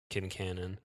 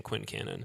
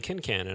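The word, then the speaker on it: Quincannon: episodes of this podcast are probably saying Quinn Canon yeah and they're all saying kin Canon I'm like oh all right I get that it's probably correct more interesting pronunciation in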